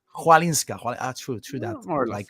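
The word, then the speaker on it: Chwalińska: How do you pronounce it? Chalinska. Chwalinska.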